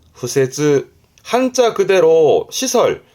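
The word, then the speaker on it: 敷設: 발음은 후세즈. 후세즈.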